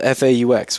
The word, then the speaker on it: faux: well, it's spelled F-A-U-X, which is like fake. Fake, yeah. So How do faux you shizzle. how do you, Faux. It's pronounced faux. Faux? Is it faux? Yeah. Like faux leather.